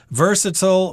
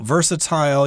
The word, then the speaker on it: versatile: a pretty versatile color versatile versatile you can pronounce it both ways that just means it's